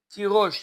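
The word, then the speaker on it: תירוש: Il s'écrit tirage et il se lit tirosh.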